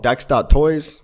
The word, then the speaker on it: dex.toys: Okay, so this is called dex.toys. Link below. Rhymes with sex toys.